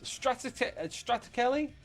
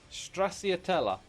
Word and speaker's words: Stracciatella: Straticelli? Can I even say it correctly? Stracciatella.